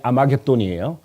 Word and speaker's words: 아마겟돈: 그래서 사실은 이 히브리어 하르메기도를 헬라어식 발음이 아마겟돈이에요.